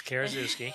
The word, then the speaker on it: Karaszewski: It's Karaszewski.